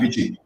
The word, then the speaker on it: VICI: How do you pronounce the name of the startup? You got it perfect the first time. VICI.